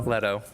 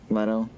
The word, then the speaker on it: Leto: Apparently, one of the like really big things amongst millennials is How do you fucking pronounce his last cuckolding. name? Jared Leto? Jared Yeah. Leto? Leto. Leto.